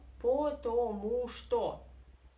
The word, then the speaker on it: потому что: And O, unstressed, we must pronounce as A. That's why, no, the stress is on the syllable with U, потому что, right? That's why all these three O are in unstressed position and you must pronounce them as A.